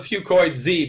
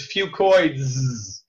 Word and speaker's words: FucoidZ: say that 10 times fast I call it fucoid Z because that's easier to pronounce but really the correct way to say it is fucoids okay fucoids is uh an encapsulated fucoidin product